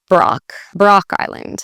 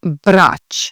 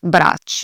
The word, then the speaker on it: Brač: So that's how you'd read it in English, and that's totally okay. In Croatian, this letter actually sounds like a CH sound. So ch, so Brač. That's how that island would sound, Brač.